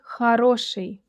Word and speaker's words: хороший: Don't forget about the unstressed O in the word хороший. Хороший.